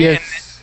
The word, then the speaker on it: yes: Okay, Yes.